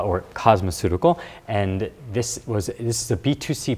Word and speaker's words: cosmeceutical: 네, cosmeceutical. 한국어 발음으로, 영어 발음으로, cosmeceutical. 네.